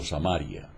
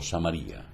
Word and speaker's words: Samaría: la provincia de samaría algunos la pronuncian como samaria yo digo samaría cuya población era despreciada